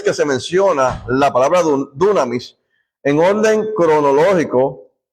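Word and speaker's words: δύναμις: que se llama dunamis, no dunamis como dicen otros, sino dunamis con acento en la U. Es una palabra es drújula.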